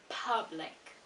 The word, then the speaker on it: public: So it's public, public, public, not po, pa.